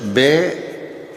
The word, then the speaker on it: blood: Tadi saya sudah tulis B-L-O-O-D, double O, kan dibacanya O, dibacanya apa? Blood.